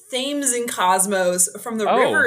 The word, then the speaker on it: Thames: You would think it's Thames, but it's actually from the Connecticut River, where the company was first started.